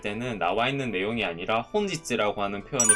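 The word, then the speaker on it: 本日: 추가적으로 여러분들이 이제 필기를 해 놓으시면 좋은 게 오늘을 격식 있게 말할 때는 나와 있는 내용이 아니라 혼지츠라고 하는 표현을 쓸 때가 많고요.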